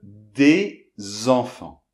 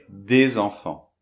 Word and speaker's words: des enfants: H muet et bien on va prononcer cette consonne finale qui normalement est muette. Bon le mieux c'est tout de suite donner un exemple. Par exemple des enfants.